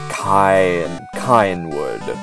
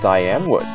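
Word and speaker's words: Cianwood: Kynewood. No, it's Cyanwood.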